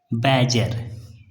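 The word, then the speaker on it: badger: the lion and द बैजर बैजर बैजर D silent यहां पर डी क्या है साइलेंट है तो द लायन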